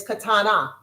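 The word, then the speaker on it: קטנה: And for a little, for a female is katana.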